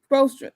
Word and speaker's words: Spoelstra: Spoelstra. Like, I think it's Spoelstra.